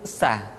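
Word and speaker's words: ث: Berikutnya huruf sa, diucapkan sebagaimana kita mengucapkan huruf sa, yaitu ujung lidah di antara dua gigi seri kita.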